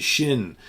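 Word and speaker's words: Schinn: going to germany 1972 i never know how to say the name of this band de shin d is in david s c h i n n d shin uh good bluesy german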